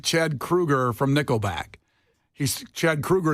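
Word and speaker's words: Kroeger: Krueger from Nickelback he's Chad Krueger is how you're supposed to say his name yeah not k he also ruin something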